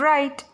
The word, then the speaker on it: write: In the column 3, all the words start with letter W, and W sounds W, though we pronounce the word like wriggle, wrinkle and write. क्यों? क्योंकि यहाँ पे W silent है।